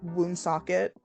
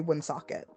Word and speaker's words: Woonsocket: school out there I have said wound socket all my life but Rhode Islanders say win socket okay yes yeah it's